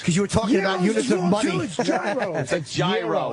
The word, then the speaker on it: gyro: your mouth open yeah it's gyro we all know that it's gyro it's not year all what a bit yeah